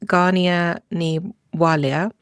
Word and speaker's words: Gráinne Ní Mháille: Yeah, so her Irish name, my understanding is it's pronounced Gráinne Ní Mháille, but I will be saying Grace O'Malley because I can pronounce that respectfully.